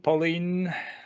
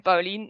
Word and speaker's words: Paulien: pronounce the name properly. Paulien. Paulien. It's Paulien, okay.